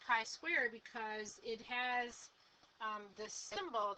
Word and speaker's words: chi-square: with a long I swear okay and it's pronounced chi-square because it has the symbol that looks like